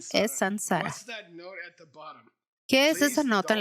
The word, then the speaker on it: saṃsāra: Por favor, no pronuncies eso como samsara. Ese es un error. Sobre la M con un punto debajo. M con un punto debajo no es M.